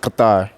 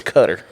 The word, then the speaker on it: Qatar: It's pronounced Qatar. I thought it was Cutter. No, It's Qatar. It's Qatar.